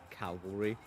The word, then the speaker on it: cavalry: There's no L in cavalry.